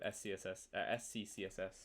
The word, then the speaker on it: SCCSS: So SCCSS is my little like pithy naming convention for how I like to write CSS at a good scale. So it just kind of is pronounced like success.